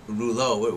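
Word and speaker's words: Desrouleaux: spelled differently um my my real name is actually spelled D e s r o u l e a u x yes but it would just be too hard for people to pronounce so I just like Eng englished it now day is of so it's Jason of Rulo where's Rulo from uh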